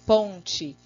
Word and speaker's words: ponte: Refletimos também as palavrinhas que às vezes nós falamos com som final I, que nem ponte, mas na hora de escrever tem que escrever corretamente ponte, né?